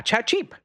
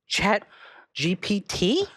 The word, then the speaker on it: ChatGPT: And he's like, yeah, ChatGeep. Everybody uses ChatGeep. I'm like, ChatGPT?